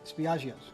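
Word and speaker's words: Spiaggia: Spiaggio's, correct?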